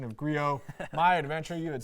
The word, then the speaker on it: Griot: Sometimes you're a little blown away how people pronounce it. Like, how in the world did you get that out of Grio?